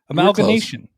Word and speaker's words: amalgamation: about amalgamation amalgamation oh i said it right amalgamation like like animation okay anyways cilante um